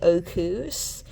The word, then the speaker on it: Arceus: It's clearly Arceus from Archaic and Zeus, so this is not correct.